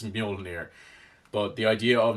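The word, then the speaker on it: Mjölnir: of a time before people knew it was Mjolnir, even if that is it. That might have just been what they decided on the day, and now that's it. It's Mjolnir.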